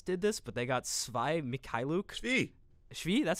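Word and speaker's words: Svi Mykhailiuk: the whole Hornets did this but they got svi mikhailuki that's how you say his name and two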